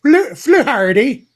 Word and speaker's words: Fluharty: I think you have to pronounce it Fluharty.